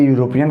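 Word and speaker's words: European: यहाँ पे जब हम इसको बोलेंगे, देखिए शुरू तो ई से है, अगर आप जल्दीबाजी में लगाएंगे तो ई मतलब वॉवेल, वॉवेल मतलब एन लगा देंगे, वो गलत हो जाएगा। हम इसको बोलते हैं तो फिर वो तो य, ऐसे यू से होता है शुरू ना, तो जब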